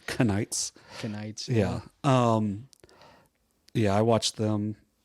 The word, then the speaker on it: Knights: Knights. I was going to say kaleidoscopes. I'm just saying it starts with a K, but I mean, you wouldn't know that by pronouncing it. Knights.